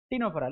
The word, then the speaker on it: Ctenophora: The phylum Ctenophora, c t e n o p h o r a. Ctenophora. What is this ctenophora? Ctenophora. See, c silent. You shouldn't pronounce the word c here.